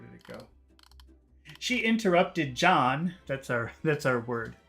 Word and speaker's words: John: have to do is imagine that there's a D in the front so it's not Jan but John John you have to start with a D sound so if your language